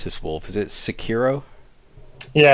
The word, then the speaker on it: Sekiro: First one here, and how do you pronounce this, Wolf? Is it Sekiro? Yeah, Sekiro.